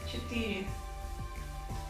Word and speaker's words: четыре: Четыре. Let me transcribe it somehow for you. Четыре.